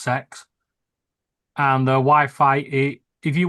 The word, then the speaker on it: CeX: Yeah, it is pronounced sex.